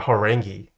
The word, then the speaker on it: Horangi: it like that yeah horangi if you're a Korean it's horangi but if you're if you can't if it's a little hard to pronounce it's horangi okay let me bring